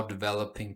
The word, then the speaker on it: developing: A task force that's now developing programs that aim to recruit and retain more men. Recruit. Recruit. Emphasis in recruit. Retain. Emphasis in attain. Developing. Emphasis in the ve.